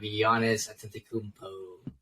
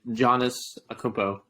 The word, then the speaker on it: Giannis Antetokounmpo: So this week, we're going to have Giannis Antetokounmpo. That's how you say his name.